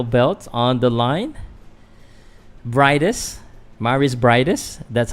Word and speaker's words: Mairis Briedis: Mairis Briedis.